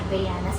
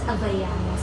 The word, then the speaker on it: Havaianas: masasabi ko kagayan t saka guys ung tarang pronunciation pala ng habayanas habayanas sabi ni Chris Aquino hindi ang galing saakin